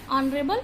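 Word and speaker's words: honorable: Next देखें, before a word beginning with a silent H but produce a vowel sound. क्या है कि कुछ एक नाउन ऐसी होती है, कुछ एक वर्ड्स ऐसे होते हैं जो कि शुरू तो एच से होते हैं, लेकिन वहां पर जो एच होता है वो साइलेंट होता है और साउंड किसकी निकलती है, वाउल साउंड निकलती है।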